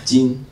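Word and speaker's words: 金: So the top, the blue part, is a pronunciation, jin, the whole character is pronounced jin.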